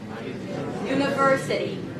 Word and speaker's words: university: So it's U, N, university. Say it. Beautiful. Very good. University. Say it again. So not only did we change the pronunciation, but we also changed the rhythm from university to da-da-da-da-da, right? University. Prolonging the primary stress, reducing the schwas, and the sounds right there in the middle.